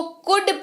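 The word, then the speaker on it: could: ओ यू एल दी लेकिन यहां पर अलका उच्चारण बोलते वक्त नहीं होगा लिखते वक्त होगा पर बोलते वक्त नहीं होगा इसको कूद पढ़ते हैं कूद पढ़ते हैं इसका मतलब होता है या पाया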